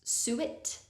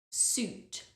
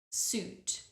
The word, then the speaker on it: suit: The spelling of this word sometimes means people would pronounce suit because there's a U and an I, but it's an oo sound. Suit, suit.